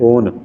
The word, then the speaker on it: own: तो OWN इसे हम पढ़ते हैं ओन, आउन नहीं पढ़ेंगे, इसे उच्चारण पर विशेष ध्यान देंगे, ओन पढ़ते हैं इसे हम, समझिए।